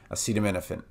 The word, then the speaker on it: acetaminophen: here we're going to start with Fen and then here it would sound like no fin but it's actually na Fen me nothing Finn acetaminophen okay so this back